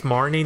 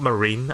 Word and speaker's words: Marnie: marine or Marnie apparently I've been saying it wrong this whole famous Marnie not marine I don't know why